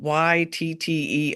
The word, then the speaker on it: ytterbium: It's spelled YTTERBIUM.